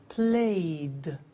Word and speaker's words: played: So, the pronunciation of ed becomes D. It becomes played.